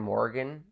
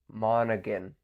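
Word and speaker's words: Monaghan: Thal Marvel Spider-Man 2 I went with Cameron Morgan Mo sorry Cameron monan I'm butchered everyone's name here except Ben star but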